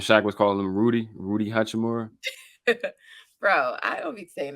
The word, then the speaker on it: Hachimura: Uchi, how do I pronounce it before I say it wrong? Hachimura. Hachi, so Uchi. Uchi Wally. No, Hachimura.